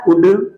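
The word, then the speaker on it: would: तो वुल्ड नहीं पढ़ेंगे, यहां भी हमारा एल आ रहा है, पढ़ते क्या है, वुड।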